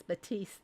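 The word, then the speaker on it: Baptiste: If you need a hint, I was going to say it is Batiste. The P is silent.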